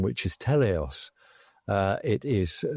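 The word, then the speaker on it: Teleios: Uh which is that they've given it a lovely name which is Telos. Uh it is spelled with T E L E I O S and it's a Greek word meaning perfection.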